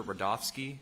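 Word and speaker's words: Rudofski: back special agent rodofsky that's r-u-d-o-f-s-k-i and it's pronounced Rudolph and then ski professional agent rodolski how you doing today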